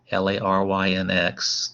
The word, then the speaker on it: larynx: this structure called the larynx l-a-r-y-n-x that's how you pronounce that one larynx lot not larynx